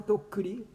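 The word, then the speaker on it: 徳利: とくりと書いてとっくりって読むんだね。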